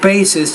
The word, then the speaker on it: basis: disorder no genetic basis basis has two syllables not one so there is a genetic basis to this disorder so